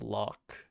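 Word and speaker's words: lough: burg i guess b-u-r-g-h how do you pronounce l-o-u-g-h i have no idea oh that's pronounced lock really jeebus yeah it's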